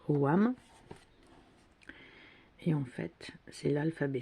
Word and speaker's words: ogham: donc ça s'écrit au gain mais ça se prononce au wam et en fait c'est l'alphabet celtes des arbres